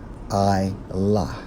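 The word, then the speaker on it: עלה: Went up, according to the Hebrew, Strong's H 5927, pronounced as I-lah, which means what?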